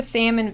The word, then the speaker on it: salmon: The word salmon has two syllables, salmon. So are we just taking her word for it? I don't know. Should be longer than the second. Salmon. Salmon. The first vowel in salmon is vowel a, as in black cat.